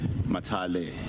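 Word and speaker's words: Mathale: I think it's Mayor Boysheli and Deputy Minister Mathala. I want to ensure that I pronounce correctly. Matale.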